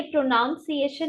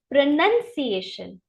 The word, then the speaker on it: pronunciation: बट ये प्रोनाउंसिएशन नहीं होता, ये होता है प्रोनंसिएशन। मेरे साथ बोलिए, प्रोनंसिएशन। इसमें ओ जो होता है वो साइलेंट होता है, इसलिए हम इसको कैसे बोलते हैं, प्रोनंसिएशन।